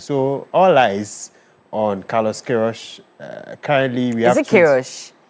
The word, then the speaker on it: Queiroz: The day that Carlos Queiroz would release his final 26-month squad ahead of the 2026 World Cup.